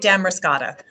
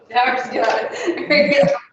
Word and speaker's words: Damariscotta: Damariscotta? Did I say that right? Yes, local state, Damariscotta. Damariscotta.